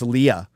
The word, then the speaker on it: Leia: Even in the early days, it was Princess Leia. People were calling I her always Princess knew it was Leia. Leia.